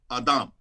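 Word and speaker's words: אדם: in genesis is adam it's literally pronounced adam in hebrew when you say human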